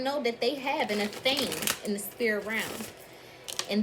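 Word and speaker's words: athame: thing check it out a fame a theme is what it's called thank you series so a theme some of the collective don't know that they have in a theme in the spear around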